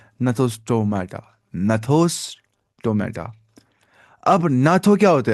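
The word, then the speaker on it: Gnathostomata: शायद नहीं, हाँ, इसको जी साइलेंट ही पढ़ना होता है। ये क्या है? नथोस्टोमाटा।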